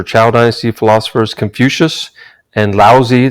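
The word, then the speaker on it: Laozi: dynasty philosophers confucius and lousy that's how you pronounce that these philosophers were deeply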